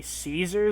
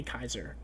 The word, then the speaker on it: Caesar: pronounced differently because uh gyro pronounces it as like in Italian or Latin I'm pretty sure not so it'd be Kaiser um yeah it'd be